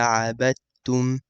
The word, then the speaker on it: عبدتم: ولا أنا عابد ما عبدتم. You have to make sure you do the shadda and pronounce the ta correctly. ولا أنا عابد ما عبدتم.